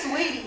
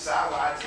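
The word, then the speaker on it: Saweetie: I can't read. It's sour tea. That's what I was saying when I first read it. I was like, sour tea. Alright. Sweetie.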